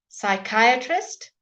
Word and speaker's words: psychiatrist: a lazy language pseudonym pseudonym false name pseudonym psychiatrist and pneumatics spread as yeah somehow fell off